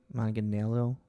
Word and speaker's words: Manganiello: I can never pronounce his name. Manganiello.